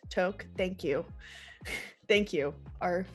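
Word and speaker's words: toque: know today it's like a talk or whatever the you pronounce it in Canadian toke thank you thank you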